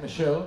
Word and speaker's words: Michaud: It's going to be coming up on my upcoming album, Michaud, The D is Silent. It's going to be out summer of 2021.